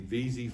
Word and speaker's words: Wisy: back it's spelled w-i-s-y in german the w is a v so i call it v-z but if you call us and say you'd like to buy a wheezy filter we're okay with that